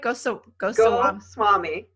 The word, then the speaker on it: Goswami: Goswami. Oh, yeah, easy. Just like it sounds.